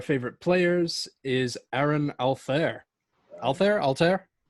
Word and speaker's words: Altherr: Altherr? Yeah, Altair, I think, is how it's pronounced.